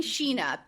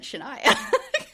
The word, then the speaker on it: Shenia: in episode seven, they were saying Shena. And I was like, cuz that's weird the way it's spelled. Then this episode, I was like, oh, it's 100% Shenia.